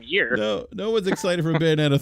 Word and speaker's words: Bayonetta: I can never pronounce this game either. Bayonetta.